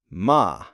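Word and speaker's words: ماء: What about something simple, like water? ما. Ma. Just one syllable? Yes, very short, but very important.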